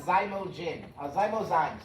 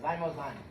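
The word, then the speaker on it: Xymozyme: Okay, so this is called Zymozyme. Zymozyme. Let me spell it for you.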